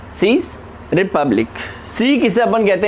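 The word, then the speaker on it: Czech: सी किसे अपन कहते हैं, इसका प्रोनाउंसिएशन सीक होता है, ठीक है।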